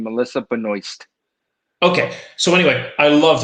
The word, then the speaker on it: Melissa Benoist: she's american um and she know her name in the french way she pronounced her name melissa benoist okay so anyway i